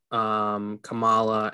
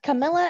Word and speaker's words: Kamala: They're two different pronunciations of the exact same spelling, and I keep getting corrected.